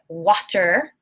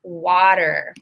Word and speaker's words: water: I do not say water, I say water. So the T becomes a D sound, water, because I'm a native English speaker from the United States.